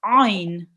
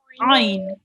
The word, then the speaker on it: عين: So with the ayn, the rule about the ayn is it will be read from the middle of your throat. Okay, so ayn. Do you want to pronounce it with me? Yes. Ayn.